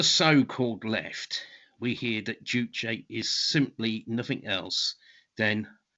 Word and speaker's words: Juche: in the korean language is a word of two syllables and uh in you know does explain in korean language one character uh one written character represents a syllable so it's two syllables jew which roughly translates as master and che which means body or oneself so it means master